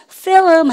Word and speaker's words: film: F 발음은요, 아래 입술을 깨물든 말든, 안 되면 깨물었으라도, 아셨죠? film 하십니다.